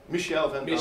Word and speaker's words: Michel Van Veld: I've been pronouncing your name incorrectly. So it's Michel Van Veld.